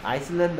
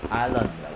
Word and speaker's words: island: 자, 발음은 아이슬란드 아니야. 스펠링은 ISLAND인데 여기에 있는 S는 소리가 안 나서 그래서 어떻게 발음한다? 그렇죠. Island이라고 해야 돼.